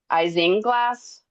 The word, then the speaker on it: isinglass: It's called let's see, I I can't even pronounce that. It's like isinglass.